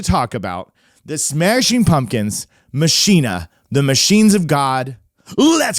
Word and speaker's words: Machina: Machina, is that's how you say that word.